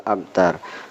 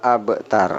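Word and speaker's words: الأبتر: Huwal abtar, ini ada huruf ba mati, dan ini qalqalah sugro bahasa tajwidnya. Saya ulangi, syani'aka huwal abtar, ya, syani'aka huwal abtar, bukan abtar tapi abtar, ya. Syani'aka huwal abtar, ya.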